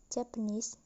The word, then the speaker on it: Japanese: next example is japanese in a word japan the stress is on the second syllable then plus suffix is the word become japanese the primary stress is on knees while the secondary stress